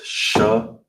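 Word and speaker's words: שמונה: All together is shamana. Shamana. All right. That's how you would say eight in Hebrew.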